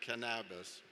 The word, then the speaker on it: cannabis: And you notice that in Greek, the accent is on the first syllable as opposed to Spanish. So we say cannabis rather than cannabis.